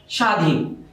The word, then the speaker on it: স্বাধীন: স্বাধীন। এখানে যদিও দন্ত স আছে, বফলা থাকার কারণে এই দন্ত স এখানে তালব্য স হয়ে গেছে।